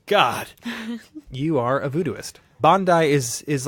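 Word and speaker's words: Bondye: Voodooists believe in a supreme creator known as Bandai. I think that's the way you pronounce it, but it's derived from the French bon Dieu, or good God. So when you say good God, You say bandu.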